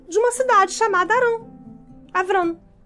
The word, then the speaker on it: Abram: né minha princesa e abram na verdade a pronúncia correta do nome dele abram abram as é pai pai